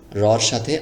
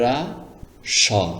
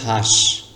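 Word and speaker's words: হ্রাস: এটার উচ্চারণ হবে শুধু র এর মত উচ্চারণ হবে। এখানে দেখুন র সাথে আকার এসেছে। রকার রা স রাস রাস মানে কি বলুন তো দেখি।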